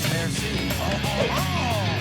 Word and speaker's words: merci: You're like a mercy roll? Actually, it's pronounced merci.